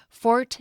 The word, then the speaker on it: fort: I'm told that in French, you don't pronounce the T on the end, so it's more like for.